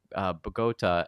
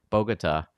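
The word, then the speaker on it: Bogotá: It seems like this school of father, schools of dad, school, whatever, in Bogota is Bogota. Bogota. Bogota. I'm not gonna even try. The accent's at the end. It's on the wrong syllable.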